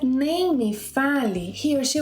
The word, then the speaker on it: nem: Well, so say the word name, but stop a little before you close your lips, a little before making the M sound.